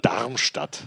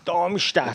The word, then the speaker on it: Darmstadt: Darmstadt. Darmstadt.